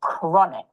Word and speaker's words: chronic: Normally when we see ch it's pronounced cha like cheese. But here it's h. So chronic.